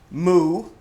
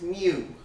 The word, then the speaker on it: mu: And you want to pronounce it correctly, not moo. It's not a cow. It's mu.